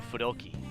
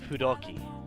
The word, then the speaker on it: Fudoki: Kamu Susanoo, a Japanese god found in the Izumo Fudoki. Actually, sorry, I'm pronouncing the f wrong. A Japanese god found in the Izumo Fudoki.